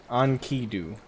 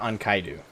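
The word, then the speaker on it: Enkidu: It's pronounced Ankidu. Ankidu? Okay, so not Ankaidu.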